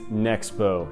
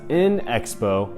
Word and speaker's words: Nexo: pronounce it and yes in fact it is nexo not in Expo it's just nexo the other thing I